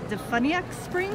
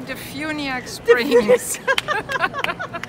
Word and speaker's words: DeFuniak Springs: We're here at the International Quilt Festival with Gabrielle of Fabrilish from, how do you say that, Defuniak Springs? No, Defuniak Springs.